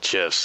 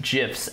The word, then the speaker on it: GIF: that you can make gifs out of the manga it says all you need to I'm I'm sorry I'm sorry I'm not going to ignore this you guys say GIF yeah yeah soft G really yeah man yeah